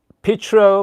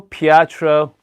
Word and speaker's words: Pietro: grinder okay all right so uh it's called Petro Pietro I mean if you're a true Italian let